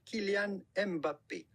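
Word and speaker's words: Kylian Mbappé: how to pronounce who is the typical french pronunciation kilian mbappe killian that's amazing that's why we don't have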